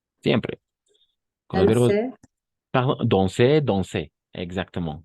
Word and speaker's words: danser: Danser. Très bien. Danser. Exact. Siempre. Va a funcionar en un 100%. Danser. D'accord? Pas danser, danser. N'oublie pas A-N, on. Igual, A-N. Lo vamos a pronunciar como on.